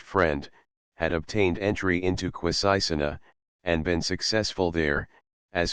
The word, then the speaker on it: Quisisana: known throughout the town where they pronounced it with a very soft s and a very broad a Christian button Brook as Senator J's best friend had obtained entry into quisisana and been successful there